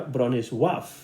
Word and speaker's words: Bronisław: Si lo pronunciamos de la manera polaca, pues sería Bronisław, ¿no?